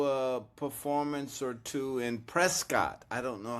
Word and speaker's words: Prescott: performance or two in Prescott. I don't know how far. is great, too. Um if you're a local, you call it Prescott.